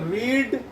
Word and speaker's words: read: तो पढ़ना चाहिए था का तो रीड, स्पेलिंग वही होती है लेकिन बोलते वक्त हो जाता है रीड, रेड, रेड।